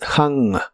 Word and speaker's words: hung: En el pasado es hung. La H es como la J suave de español, pero la U se pronuncia como una A explosiva. Hung. Hung.